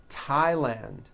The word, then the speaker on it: Thailand: like to point out although these next words and names are spelled with a th they are pronounced as if they were spelled with a normal t t like that and